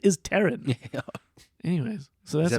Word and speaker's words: Taron: And and there she meets Taron Egerton, Taron Egerton. who you forget his name is Taron, Oh, right. like the girl's name.